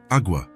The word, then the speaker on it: agua: "Agua," Elena replied. "It's pronounced agua, with a very soft G-E.